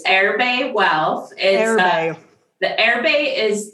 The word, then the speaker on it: Erbe: And then I mispronounced it anyway. So Erbe.